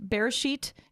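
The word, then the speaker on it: Beresheet: this interesting I can't I'm not sure if I'm gonna pronounce it right it's bursh eat Bereshit the ER e sh eet and it's Hebrew for in the beginning is the name of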